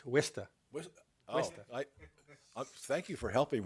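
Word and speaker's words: Worcester: h s r you would think it be Worchester it's wsta I thank you for helping with that pronunciation it helps to have some e Coast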